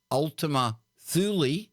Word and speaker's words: Ultima Thule: the new Horizons spacecraft ultimate sill or Ultima fool pronounced Ultima Thule the announcement press release